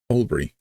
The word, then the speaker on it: Albury: y albrey what burbury Albury so we use elen which is taking out sounds or syllables to connect them together rather than allb all Bri all Bri auy last one m willar